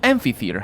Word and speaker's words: amphitheatre: could i amphi theater it's a ph ph in english reads the fififi so amphitheatre how the hell did